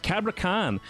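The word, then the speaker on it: Cabrakan: Cabra Can is how you say it.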